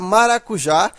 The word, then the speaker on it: maracujá: saber que a palavra maracujá ela deve ser acentuada. Agora, por que que ela é acentuada? Porque ela é uma oxítona. Veja que a sílaba tônica é a última.